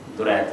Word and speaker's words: درید: میں مسئلہ نہیں ہوگا، صرف یہ درید نہیں ہے، درید ہے۔ تو یہ عربی زبان